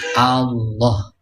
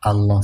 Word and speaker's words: Allah: Jadi mengucapkan nafdul jalalah itu hamzahnya mesti jelas a terbuka bukan o. Jadi Allah artinya dengan menyebut nama